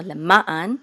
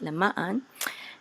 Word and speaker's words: למען: So we want to put the accent on ma, so lema'an, okay? If we're just saying it, lema'an.